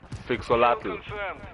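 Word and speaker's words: Phyxolotl: It's Fixolatl. Like physics. How do you say it? It's Fixolatl. I don't know. I have a weird origin story, but it's just physics.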